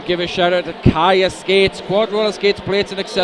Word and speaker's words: Chaya: Yeah, one of those, I think a lot of us did mispronounce that name quite a while, with a soft C sound rather than the hard K sound.